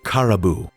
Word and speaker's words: Caraboo: With a little more coaxing and gesturing, she got the girl to share her name, which she pronounced as Caribou.